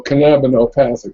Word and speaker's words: canabonopathic: The trick is to put the emphasis on the second syllable.